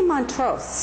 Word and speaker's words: Montrose: How do you pronounce their last name, Montrose, or is there a special? I say Montrose.